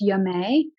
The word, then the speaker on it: Yummet: uh spelled y-u-m-m-e-t pronounced dma got kind of a French Flair um but it's a